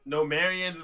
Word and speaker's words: Nomarian: Nomarian's machines. Yep. Numerius machines, yes. Is it Nomarian or Nomarius? Numerius. No. Nomarians, like Maid Marian.